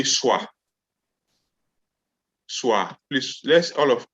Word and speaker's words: soa: So when you want to say carry in Twi, you say swa. Swa. Please, let's say together. Swa. Swa. Swa. Swa. Yes. So SOA.